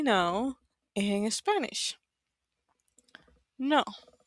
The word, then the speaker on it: no: So for example, how do you say no in Spanish? No. No. So in English you have like a little u right? No. No. But for us, it's just like an O.